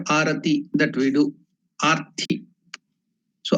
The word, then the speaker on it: Arati: So don't get confused for Arati, because here in South Africa they pronounce Arati as also Arti. It is not Arti, it is Arati.